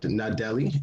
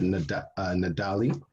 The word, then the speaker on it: Nadali: I said Nadeli, and I should have said Nadali.